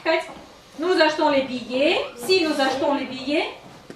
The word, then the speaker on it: billet: billets, Т читается. Billet. Т ne se prononce pas.